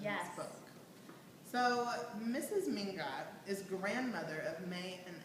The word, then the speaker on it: Mingot: So, Megan, why don't you talk about Miss Manson Mignot? Mignot. You pronounce her name. Mrs. Manson Mingot.